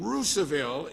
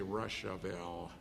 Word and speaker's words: Russiaville: whose mother lived in ruseville indiana i believe i pronounced that correctly by hoosier standards up in michigan we'd say russiaville okay roosevelt began preaching